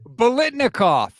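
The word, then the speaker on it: Biletnikoff: Blickentoff, however you pronounce it. Not even close. How do you pronounce it? How do you pronounce it? Bolitnikoff. After Fred Bolitnikoff, the famous Raiders wide receiver.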